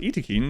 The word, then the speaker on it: Yttakin: the Eakin run and yes it is pronounced iin the developers are very clear they came out and and let people know when biotech uh came out that is not how I first pronounced it but that is how they pronounce it so that's how